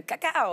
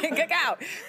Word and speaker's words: cacao: And I'm actually, I don't really love chocolate, but I was giving the cacao, I have to say it like that, cacao, but I was giving it a go.